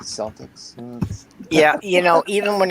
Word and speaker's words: Celtic: more popular in america we started using the word celtic but they're spelled the same and we still call the basketball guys celtics yeah you know even